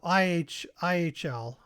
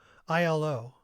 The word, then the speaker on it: Ihlo: then I forgot uh IH IHL I think is how you say it no ILO that's it ILO right ILO okay